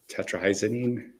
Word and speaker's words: tetrahydrozoline: if I mispronounce this, tetrahydrozoline, No, tetrahydrozoline, but we got you, active boo.